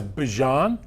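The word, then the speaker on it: Bijan: He changed it was Bjon. It was his grandmother's preference and his mother and then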